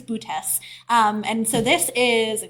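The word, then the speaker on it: Boötes: I want to say boots, but I know that's not it. I believe it's bootes.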